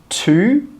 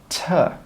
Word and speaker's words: to: And we don't say 'to'. We say 'tuh, tuh, tuh.'